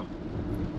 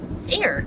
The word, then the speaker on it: Ayr: Ayr. How do you say it? Ayr. Okay, so you said just like Ayr. Yeah, just like Ayr, but instead of an I, there's a Y.